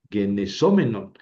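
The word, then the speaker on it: γενησόμενον: Ojo porque en el menos, mene, menon, en la terminación, el masculino y el neutro llevan el acento en la antepenúltima, genesómenos, genesómenon.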